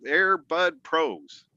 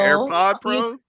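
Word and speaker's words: AirPods Pro: chance to win some Airbud Pros. I'm sure. Did I say it right, Lakeisha? No. AirPod Pros? Yes.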